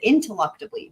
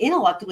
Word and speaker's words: ineluctably: The thing is he's pronouncing it wrong if it's a real word. Because he's saying in. There was another T. He said intelluctably with a T.